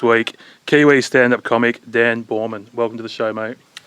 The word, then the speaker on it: Boerman: Well, I mean, at first glance, I did think it was Bowman, but uh yeah, I did a little bit of I did a diode and uh realized it was Borman, so Oh, good.